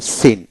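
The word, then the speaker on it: scene: UT doubt B উচ্চারিত হবে না একইভাবে সি সাইলেন্ট যেটা যেমন সিন এস সিই এন সিন এসতে স উচ্চারিত সিতে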